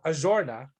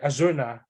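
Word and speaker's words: Arjona: It's actually this girl, this actress, Adria Ajorna, or I think she pronounced it like Azurna, something like that.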